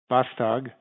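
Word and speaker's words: Vastag: address for the record yes um and i'll spell it for the court reporter uh my name is bostog v-a-s-t-a-g i am a utility analyst and i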